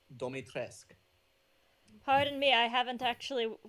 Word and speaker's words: Dimitrescu: her name is pronounced Domitrescu.